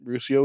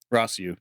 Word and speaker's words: Rossiu: Yep, Ruscio was the influence on this one. Yep. Rossiu. You got me saying it wrong now.